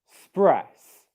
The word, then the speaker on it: express: Okay, now the correct way to pronounce these 2 syllables is like this. The syllable 1 is ick, and syllable 2 is spress.